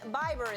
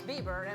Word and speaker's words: Bieber: going to be huge Justin bber is here Bieber Bieber he's new cuz I said bber his name is Bieber and one day you'll